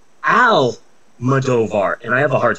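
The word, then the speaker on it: Almodóvar: Pedro almadovar there's no I keep wanting to pronounce Pedro Alam madovar but that's not his name it's Al movar and I have a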